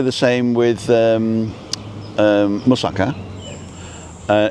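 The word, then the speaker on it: moussaka: Not musaka, it's musaka. And um, and have a look at that because he does an oven version.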